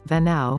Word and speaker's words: Venao: A long, protected beach, Playa Venao, officially Venado but pronounced and spelled as Venao, recently transformed from a wild beach on the southern edge of the peninsula de Azuero to a go-to destination.